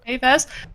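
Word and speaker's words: Kay Vess: Do you pronounce it as K-Vas or Kai? Yeah, K-Vas.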